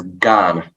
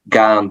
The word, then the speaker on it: Gane: I think you pronounce it as Gan. Yeah. But like Cyril Gan. Yeah. Cyril Gane.